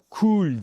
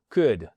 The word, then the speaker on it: could: Et attention, jamais cool, il y a pas de cool, c'est fini. Plus jamais ça. Le L ne se prononce pas. En fait, c'est un cour could et c'est pas good.